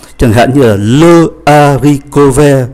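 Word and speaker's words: haricot: hạn như là le aricove, đậu cove, chúng ta không phát âm ký tự ash.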